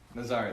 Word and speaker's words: Nazari: Nazari, that's right. Yeah, he says Nazarene to remind me of how to say it.